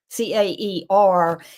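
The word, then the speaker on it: Caer: it's K or or something like C A C A R is pronounced car and it is used in the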